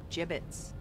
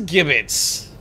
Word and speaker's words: gibbets: left over gibbets what it's pronounced gibbets but it's not a j yeah well I was gonna say well fuck English nobody likes changing English it is gibbets you bets fucking English